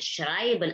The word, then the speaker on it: schreiben: Di situ ada EI dibacanya I. Schreiben.